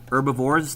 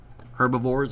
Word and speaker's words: herbivores: began to letter H herbivores the H is silence but a silent but if you pronounce that I won't freak out herbivores or herbivores what do we call